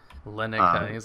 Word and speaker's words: Linux: friends and he still mispronounces my name it's Linux like Linux named after my dad